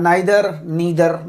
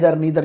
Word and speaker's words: neither: देखिए, कहीं कहीं इसका प्रोनाउंसिएशन आता है नाइदर, नीदर, जैसा आप उचित समझते हैं।